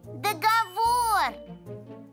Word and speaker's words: договор: слово так долго сбор ударение на последний слог договор а во множественном числе